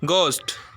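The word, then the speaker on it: ghost: H sound சைலெண்ட்ல இருக்கும் examples பாருங்க கோஸ்ட் இதுல மிடில்ல வந்து ஹெச் வருது நம்ம ஹெச் சைலெண்ட்ன்னு குடுத்துட்டு கோஸ்ட்ன்னு சொல்றோம் சரிங்களா ஆ இனிஷியல்ல ஹச் வருது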